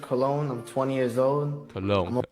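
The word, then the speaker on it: Colón: Cologne. I definitely said his name wrong. I was saying Colin and shit, right?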